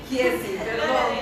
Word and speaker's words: Gehazi: Es cuando, como lo comentaba Rocío y Cintia, que manda llamar a Gehazi, se pronuncia Gehazi, perdón, amén.